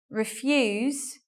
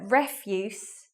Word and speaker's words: refuse: they're the same word they have different pronunciation and different meanings so let's look at that and the pronunciation difference is it's quite obvious in these examples so refuse as a verb means